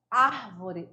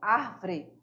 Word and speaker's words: árvore: É na primeira sílaba e não na segunda, né? Aí nós vamos fazer um erro de pronúncia se você fizer isso, porque você vai pronunciar árvore, nada a ver, beleza?